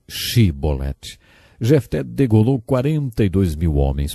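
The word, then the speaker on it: Shibboleth: regiões do nosso país eles não conseguiam pronunciar o som ch e por isso diziam se bolette ao invés de che bolette jefté degolou 42 mil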